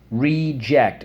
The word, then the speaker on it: reject: Reject. Reject. Reject. On the first syllable.